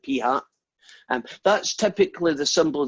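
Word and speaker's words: p̂: probably haven't seen yet it's p with a little hat on it that's how you say it p hat and that's typically the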